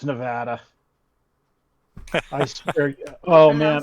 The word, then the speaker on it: Nevada: It's not Nevada, it's Nevada. I swear. Oh, man.